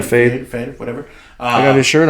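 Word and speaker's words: Feid: Am I saying it right? Fade. Yeah, Fade.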